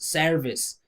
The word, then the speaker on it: service: But I mean, I can't tell you how many times you guys just say ser s service. It's close. you'll be understood. But there's no e sound. There's no air, right? It's just s plus r.